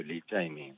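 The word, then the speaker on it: 李在明: 리짜이밍. 이재명 이름에 대한 중국식 발음인데요. 예.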